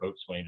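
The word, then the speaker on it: boatswain: blake and the uh boson or vote swain is spelled uh john shaw and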